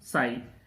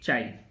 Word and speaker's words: chi: इसको हम लोग पढ़ते हैं साई और लिखते हैं चाई, ये है, इसको हम लोग CHI लिखते हैं, पढ़ते हैं, प्रोनाउंस करते हैं साई।